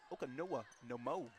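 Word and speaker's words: Oconomowoc: Olivia Kiwasi from Okanoa Nomo, Wisconsin. I like saying that. I'm so happy I I actually looked up the pronunciation of that last just be able to say it.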